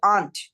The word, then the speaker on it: aren't: Are not এর short form হচ্ছে aren't. পুরা আর এরটাই সাইলেন্ট হয়ে যাবে, aren't, A-N-T, aren't.